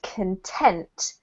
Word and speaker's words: content: highlight yeah there we go um this is pronounced content because we're talking about the feeling to be content okay um if you're talking about the the content like as in what's inside something it's pronounced